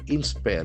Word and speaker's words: inspire: Inspire is a very interesting verb. Inspire. Inspire. The accent for second syllable.